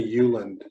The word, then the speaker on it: Ueland: And people are going to ask Brenda Euland. Euland is spelled Ueland, and she's famous for a book called If You Want to Write.